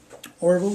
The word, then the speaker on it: Orville: Also present will be a John Orville, did I pronounce it right?